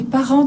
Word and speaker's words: parents: Ce sont les parents de mon père. Ce sont les parents de mon père. Les parents de mon père. Friends. Parents. Parents. Because the S at the end of the word is silent.